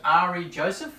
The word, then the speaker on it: Ari Joseph: And now you're starting off as, am I pronouncing this, Ari Joseph?